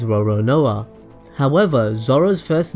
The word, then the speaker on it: Roronoa: French pirate franu Lun the Japanese pronunciation for Lun is roron NOA however zoro's first name